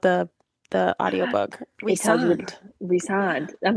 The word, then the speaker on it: Rysand: It tells you Resand.